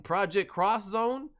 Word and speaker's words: Project X Zone: It says X, but it's cross.